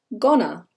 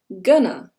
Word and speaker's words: gonna: sandwich number five is Ghana Ghana this can also be pronounced gunner gunner this is a